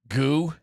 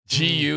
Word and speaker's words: Gu: Golly, it's Gu. How would you pronounce it? Goo. Gu is Gu.